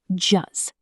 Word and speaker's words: just: Native speakers almost never pronounce the T at the end of just when the next word starts with a consonant.